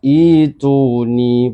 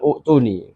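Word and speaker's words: ائتوني: Jadi bacanya ituni, bukan u'tuni.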